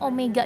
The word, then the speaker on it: omega: teh nah di mana Omega ini cara bacanya Omega ya bukan W Omega ini adalah eh